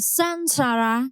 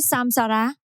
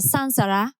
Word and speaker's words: saṃsāra: Nhưng theo quy luật của tiếng Phạn trước chữ “S”, chữ “M” đổi thành chữ “N”. Vì thế chúng ta nên đọc là “sansara” (Bánh xe/vòng luân hồi).